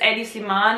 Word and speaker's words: Hedi Slimane: main or eddies lemon if we pronounce it like the french people who do not see the letter age as a respectful letter so they don't pronounce it at the beginning beginning anyway it's eddie sliman or i think if